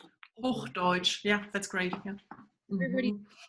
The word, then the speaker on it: Hochdeutsch: There was a question in the chat about if everybody speaks, I'm going to mispronounce this, Hochdeutsch. Hochdeutsch.